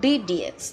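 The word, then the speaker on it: d/dx: যে চিহ্নটাকে দেখতে পাচ্ছ, এটাকে অনেকে আমরা ভাগ বলে থাকি। প্রথম কথা, এটাকে আমাদের ভাগ বলা যাবে না। এখানে এটাকে আমরা উচ্চারণ করব ডিডিএক্স।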